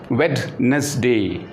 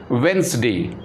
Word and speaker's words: Wednesday: Most of us, we pronounce it Wednesday. Actually, here also D is silent. So we have to say it is not Wednesday, it is Wednesday. Wednesday. Sandwiches. So just D is silent here in Wednesday, and sandwiches, here also D is silent.